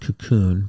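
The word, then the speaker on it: Kaqun: But there is a type of water called cakein water or cocoon water. Um, Dr. Lion's research is pretty water. What was the other thing called? Ken. K a Q n. It's pronounced cocoon, but it's K A U N.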